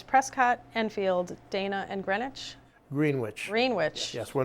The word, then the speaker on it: Greenwich: Greenwich. Greenwich. Yes, we're not in New York, Connecticut, or the prime meridian of London. They pronounced it Greenwich, these people.